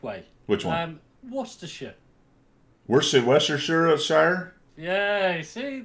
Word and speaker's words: Worcestershire: Is it Worcestershire? No R. Worcestershire. Worcestershire. Yeah, you've got it. The trouble is, it's spelt Worcestershire, but we don't say the Shires unless you're in a Hobbit land. Unless you're in a Hobbit book. It's a sure. It's sure. It's a sure. Sure.